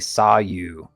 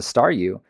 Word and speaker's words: Staryu: was still just a Staryu, I could never pronounce its name right. It always ended up sounding like saw you.